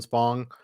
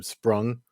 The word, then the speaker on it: Spong: Commentary and desk duties were given to Chael Sonnen, Henry Cejudo, who kept mispronouncing Tyrone Spong's last name. He kept saying Sprung. His last name is Spong.